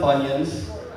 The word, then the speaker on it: Funyuns: Don't even get me started on Funyuns. It rhymes with bunions.